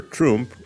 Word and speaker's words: Trump: In a syllable closed with a consonant, read letter U short, like in hug. Spell Trump, like hug.